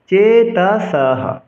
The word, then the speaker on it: चेतसः: চেতসঃ দন্তস্বকে এসের মতো উচ্চারণ করতে হবে এবং ছন্দের গঠন অনুসারে বিসর্গ যদি কোনো শ্লোকের শেষে থাকে তবে বিসর্গের উচ্চারণ হ করতে হবে।